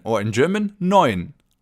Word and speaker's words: neun: It's the number 9, or in German, neun. Neun. The EU in the middle of the word is pronounced oi, as in oyster, for example.